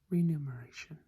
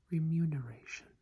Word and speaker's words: remuneration: one on this list now many people pronounce this as renumeration I could see that but it is actually remuneration remuneration remuneration free new